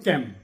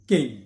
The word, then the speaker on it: came: CAME আমরা বলতে পারি ক্যাম, এটা ক্যাম নয়, CAME কেম, CAME কেম।